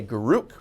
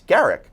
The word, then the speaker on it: Garak: of a lot of people mispronounce his name and they say group but it's Garak plain simple Garak factor fiction Garak died